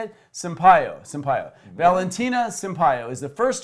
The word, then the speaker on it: Sampaio: Sampaio.